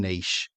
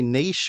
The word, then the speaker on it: niche: look at just one niche. And you could look at, and when we say niche, or some people say niche, but it's spelt the same way.